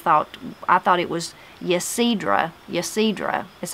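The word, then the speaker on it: Yecedrah: My name is what I thought was Ysidra, Y-E-C-E-D-R-A-H, as I said, but she said it is pronounced with the Y silent, Ysidra. Ysidra is what it's called.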